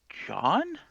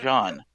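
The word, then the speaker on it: J'onn: I want to say it was it might have been John. Yeah, I think that might have been John. All right, and how do you spell that? J Z ONN. The Z is silent.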